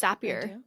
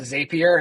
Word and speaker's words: Zapier: know what it is it's zappier it's what connects our quiz thank you for saying it right because people call it zapier and it drives me insane thank God I said